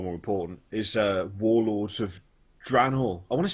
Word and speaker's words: Draenor: Metzen that it's actually Draenor. So the E is silent, Draenor.